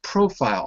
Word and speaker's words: profile: it's the same no it's always profile on the first syllable sometimes it changes but here it doesn't so it's profile I